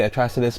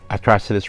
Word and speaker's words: Atrocitus: That's right, I'm learning as much as I can to say his name correctly, Atrocitus, but big bad boy red lantern here.